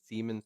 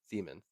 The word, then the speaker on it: Siemens: Okay, Siemens is pronounced C plus Siemens. Not men's, muns.